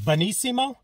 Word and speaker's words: Benissimo: i think it's uh pronounced bonissimo not bellissimo i don't believe so bonissimo has an n in there uh it's another new